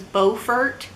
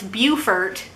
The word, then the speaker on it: Beaufort: now first of all i was pronouncing it wrong i was like what the kind of name is beaufort but it's beaufort but why one thing i